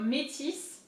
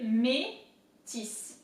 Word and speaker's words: Métis: There is an accent there, so métis. The accent is this way, métis. So here, I is pronounced E in French, and then the S is definitely not silent.